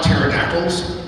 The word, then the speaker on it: pterodactyl: I like pterodactyls because no one can hear them go to the bathroom because the pee is silent.